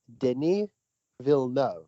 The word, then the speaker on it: Denis Villeneuve: movie 2021 directed by denis villeneuve all right did we get that everybody it's two syllables for each name all right okay cool